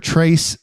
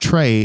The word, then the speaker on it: Tres: Trace, but it's actually pronounced Trey. It's just spelled Tres, Trace, like Tres Generaciones.